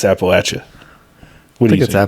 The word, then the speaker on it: Appalachia: and like Appalachia but Appalachia that's how you say it it's like you threw an Apple at you I Appalachia I think